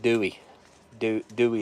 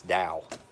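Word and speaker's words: Douwe Egberts: more Dow Edwards I used to call it Dewey Dewey Egberts because I didn't know and then someone from the UK corrected me and said it's like they told me how to pronounce it it's Dow you know all right yep I'm gonna have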